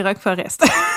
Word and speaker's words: Rock Forest: Rock Forest Rock Forest les gens nous ont écrit comment ça se prononce on fera plus l'erreur c'est Rock Forest voilà j'avais raison donc